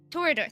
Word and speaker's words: Toreador: Toreador. Thank you. There you go.